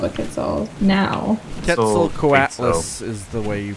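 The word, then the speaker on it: Quetzalcoatlus: a bird of paradise called a Kel now K coatless is the way you pronounce that name parasaur olaus oh I was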